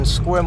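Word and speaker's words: Sequim: And our second location in the state of Washington is over in Squim on the peninsula located at 87 Dri Road in Squim, Washington, right off the 101 freeway.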